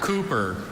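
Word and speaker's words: Cupar: Bro, bro, Cooper.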